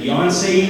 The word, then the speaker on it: Yonsei: Alexis is planning on attending Underwood International College at, am I going to pronounce this right, Yonsei University? All right, I got it. So she's going to plan on attending there at Yonsei University in Seoul, South Korea.